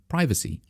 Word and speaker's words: privacy: For pretty much all of my life, I've been pronouncing that word as privacy, which is how people from the US say it, and probably some other English-speaking countries as well, perhaps Australia and so on and so on.